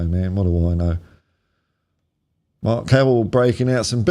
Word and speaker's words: marque: It's defo Mark and not Marquee. God knows why I checked the old Oxford. Noun pronounced Mark as in top mark.